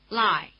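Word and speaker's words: Lai: Notice that the dip thong I is spelled AI as in Shanghai which is pronounced in Chinese like this.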